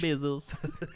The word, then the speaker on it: Bezos: Why did I say his name like Spanish? Bezos. Hola, mi amo Bezos. Hola. Okay, the American Bezos.